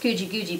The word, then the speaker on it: Guji Guji: It's pronounced Guji Guji, by the way.